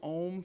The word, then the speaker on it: Om: Okay, so we're going to be doing Om chanting today. It's spelled O-M, but it's really pronounced A-U-M.